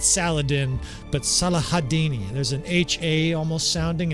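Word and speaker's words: Salah ad-Din: the butchered in English it's like a cob salad or something like that Saladin saladine if they're being nice um I think proberly a little better translation and be gentle on me you you native arabic speaking people I think a better pronunciation of this tremendous warlord and hopefully they do something there at jamea Castle is see if I can do this right salahadin sometimes it's salahadin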